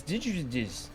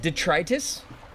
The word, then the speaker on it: detritus: Also, I just like helping if you haven't heard things pronounced aloud. I'm not familiar with that word squirrel. It's digitizes. The trees. Detus. That's the word. Um, is it is it detritus?